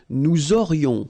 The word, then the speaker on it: aurions: Then, nous aurions, so this little link between the two, this liaison, nous aurions, final S not pronounced.